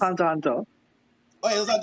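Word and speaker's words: Hunter × Hunter: the X is silent. It's just It's Hunter Hunter.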